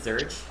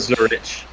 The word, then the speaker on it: Zurich: Was it Zurch? No, Zurich. Zurich. Zurich. Okay, But that pretty makes more much, sense. I thought yeah. you just called it Zurch, and I was like,